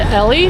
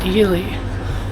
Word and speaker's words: Ely: Do you know if this train goes to Ellie? I Yeah. Yeah, this is the one. Okay, thank you. Okay, we found it. I pronounced Elely.